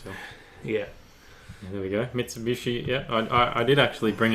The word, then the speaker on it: Mitsubishi: rhombus or diamond shape as is customary he is pronounced Vichy when it forms a lot of part of a word it's the combination of Mitsu and he she reads me Mitsubishi so complicated we'll just